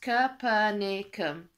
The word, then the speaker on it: Capernaum: Except he went to the place called Capernaum, which is pronounced Capernaum, where people actually wanted to listen to what he was saying.